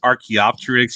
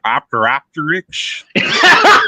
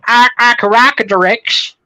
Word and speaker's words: Archaeopteryx: Is Von Helton the one who couldn't pronounce Archaeopteryx? He said Opteropteryx.